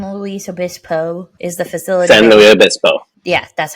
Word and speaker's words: San Luis Obispo: Interesting Man San Louis Obispo is the facility San Louis Obispo yeah that's how you say it who do